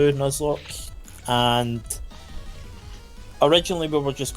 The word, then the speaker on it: Nuzlocke: I like the way you speak, but Nuzlocke. I don't know what that means, but No, just imagine Nut with Z and then Lock, L-O-C-K-E at the end.